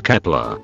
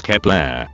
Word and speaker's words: Kep1er: is Kepler, or however you pronounce it. It's so complicated. In written it's Kep1er. But when I went to Mr. Google, they said it's pronounced as Kepler, so I don't know